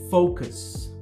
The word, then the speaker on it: focus: Se você pronunciar esse O do mesmo jeito que você faz, que a gente fala aqui no Brasil, tá? O O aberto, né? Foco, você vai acabar falando uma coisa bem ofensiva.